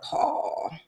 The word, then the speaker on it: Pahl: regards to our guy, Mr. Paul. And not spelled P A U L. It is spelled Paul. P A H L H.